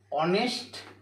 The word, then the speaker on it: honest: ধরো এখানে দেখাচ্ছে হচ্ছে অনেস্ট অনেস্ট ম্যান অনেস্ট ম্যানের এইচ টা হচ্ছে এখানে সাইলেন্ট রয়েছে এইচ টা হচ্ছে এখানে